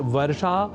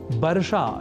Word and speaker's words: वर्षा: तावत प्रकृत अनुसरा मः अर्थात वर्षा और वर्षा के व अक्षर की जगह ब इस अक्षर का प्रयोग किया जाना और बर्षा या बर्षा जैसे प्रयोग करना अशुद्ध है यह हमें ध्यान में